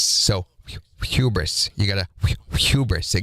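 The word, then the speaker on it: Whubris: And I did not mispronounce it there at the beginning. It's wh u b r i s. So hubris.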